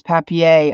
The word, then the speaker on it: papier: The word for paper is papier. Ah, okay. Thank you. Thank you, Dev.